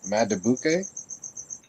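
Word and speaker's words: Madubuike: Matabuke.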